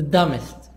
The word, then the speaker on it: dumbest: promotion arrays 11 the dumbest the dumbest be silent the dumbest the most